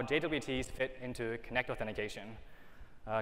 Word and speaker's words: JWT: to learn about how jwts fit into connect authentication uh just as a preface notice i said jwt not jot or jute i think any same realize that it can only pronounce jwt i mean it's three